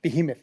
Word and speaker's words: behemoth: that with that universe yeah yeah definitely Behemoth Behemoth that's how you say it I was like